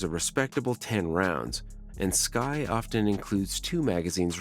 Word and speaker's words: SCCY: is definitely worth considering SCCY pronounced sky is relatively young compared